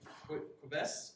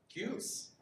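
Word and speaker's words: Qubes: Is it Quebes OS? Is that right? Is that? How do you say the OS name, guys? Cubes. It's not like Quebec.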